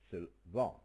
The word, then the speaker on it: Sylvan: You have to stress the second syllable. Sylvan.